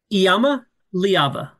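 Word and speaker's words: Iamaleava: everybody call him here Yama say it again Yama leava Yama liava yeah flows it flows nice it's close I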